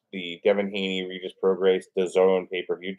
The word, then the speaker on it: DAZN: Devin Haney Regis Prograis DAZN pay-per-view. Did you know that DAZN rhymes with calzone? Calzone? Calzone. Calzone. DAZN rhymes with calzone.